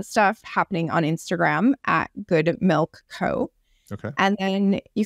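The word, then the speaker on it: Good Mylk: for the audience listening good milk um is spelled g o d m y l k so just so people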